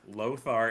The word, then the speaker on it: Lothar: Lothar is the one with the cigar. It rhymes.